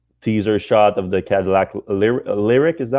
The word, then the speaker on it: Lyriq: I mean, they did release this one teaser shot of the Cadillac Lyriq. Is that how you pronounce it? Yeah, the Lyriq.